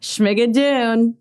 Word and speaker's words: Schmigadoon: Oh, and then I just wanted to bring up before we said goodbye, I'm afraid to pronounce it, but I'm going to say it. Schmegadun. Schmegadun. You got it.